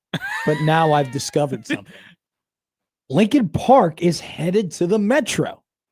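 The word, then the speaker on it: Linkin Park: and rock stuff like Abraham Lincoln. What are you saying? Lincoln Park. Yeah. They spell it L I N K I N.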